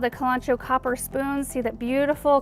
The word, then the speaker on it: Kalanchoe: You might pronounce it Kalanchoe. In our region, we pronounce it Kalanchoe, so that's what I'm going with.